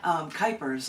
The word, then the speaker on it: Kuypers: Kuypers, and I always say rhymes with hyper. My sister was a school teacher, and she was typing for a while. She's like, oh, rhymes with typer.